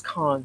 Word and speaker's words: Cannes: film festival 73rd um i'm saying cam in french it's khan the kong film festival